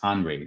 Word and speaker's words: Henry: he wanted um um I see that as Henry but it's HR that's how they say it over there so he has been